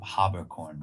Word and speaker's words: Haberkorn: What are some of the mispronunciations? Always Haberkorn. Always. Haberkorn. But it's Haberkorn. Haberkorn or Okay. Haberkorn for the German, you know.